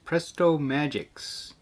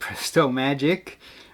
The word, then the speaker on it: PrestoMagiX: On the table I've got some Captain Caveman Haunted House PrestoMagiX. Although, from what I read online, it's actually pronounced PrestoMagic. I've always called them PrestoMagiX because there's an X, so I don't know if I'm right or wrong.